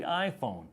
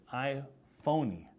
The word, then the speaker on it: iPhone: the time was the iPhone but everyone here pronounced that I phony which made me think